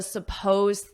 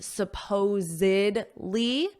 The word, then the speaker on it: supposed: She's a supposed thief. So that isn't a fact. It's just what some people have said. Now notice this pronunciation, supposedly. There's 4 syllables, but here it's just supposed. Supposed.